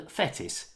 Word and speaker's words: Fettis: be alan lettis alan fettis is a legendary hull city goalkeeper with 25 northern ireland caps to his name and he now coaches at manchester united his surname rhymes with lettuce and it's possible that